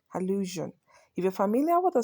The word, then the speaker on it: allusion: it it is pronounced illusion illusion if you're familiar with the sounds of the English language you would know the sound I'm pronouncing there J it is the sound in television conclusion and decision do you understand so